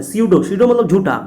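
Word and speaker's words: pseudo: सीडो, सीडो मतलब झूठा, P silent है, पी साइलेंट है।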